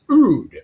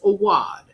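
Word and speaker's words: Awadh: which is a ruler of the region of Awad, which I was incorrectly pronouncing Oud earlier because I didn't know. And so it is pronounced Awad, and it is in the Gangetic Plain of northern India.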